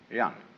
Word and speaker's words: Ren: In Confucius philosophy, the fundamental virtue of a human being is called Ren, spelled J-E-N for reasons best known to Chinese scholars. I don't know what they are, but it's pronounced Ren.